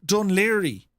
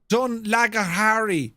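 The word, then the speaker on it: Dún Laoghaire: a place called, well, it's spelled in a way that no one from outside of Ireland can possibly pronounce it. It's called Dunleary. Dunleary. Dunlagahari, it looks like, right?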